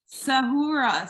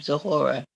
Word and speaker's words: Zahora: Sahura Sahura, is that is that is that how you say your name? You're so gorgeous. Yes, that's how to say my name. Zahora.